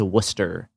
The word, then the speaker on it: Worcester: I do we do have to call it Worcester cuz that's what it's called in this country. Mhm. I care a lot about accurate pronunciations of places and names. So, it is Worcester.